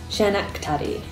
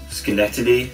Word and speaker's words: Schenectady: snake teddy schnitty shekin teddy no that's right shenak teddy schenectady schenectady okay now i'm just saying the same